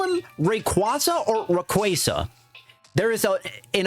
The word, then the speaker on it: Rayquaza: Because for a long time, I call it Rayquaza. It just sounds better, but I know officially it is pronounced Rayquaza. And that is the one hot take I have when it comes to Pokemon pronunciations, is that it should be called Rayquaza, not Rayquaza.